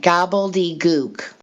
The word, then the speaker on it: gobbledygook: the definition well mostly for uh how to spell it gobbly i'm not even saying it right gobbledygook so like globe something like little goop sounds